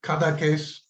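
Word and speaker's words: Cadaqués: Cada case. Yes. Yeah. It's spelled capital C A D A Q U E S, and there's an accent grave over the E, cada case.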